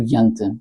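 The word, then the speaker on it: Jante: que se chamava yante, jant com j, eles já pronunciam o j, é um bocado estranho, mas que ele dizia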